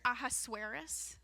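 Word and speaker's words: Ahasuerus: This book begins in the third year of King I know you want to know how to say it. Aasurus. Ahasaurus. I've also heard Aasurus.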